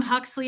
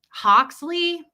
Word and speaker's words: Huxley: It's easy to pronounce unless you're weird and you're like, what? Hoxley? Well, oh my God. We had a neighbor growing up that called him Hugsley, like Pugsley, but Hugsley.